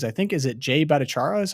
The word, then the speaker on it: Bhattacharya: One thing that excites me is I think, is it Jay Bhattacharya is how you pronounce it?